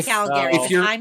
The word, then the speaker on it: Calgary: to be calgary it's calgary i say calgary if you're i'm not free if you're from calgary you don't really pronounce the second a if you're if like